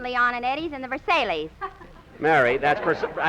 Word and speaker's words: Versailles: We went to the Al Morocco Club 18, Leon and Eddies, and the Versailles. Mary, that's pronounced Versailles, not Versailles.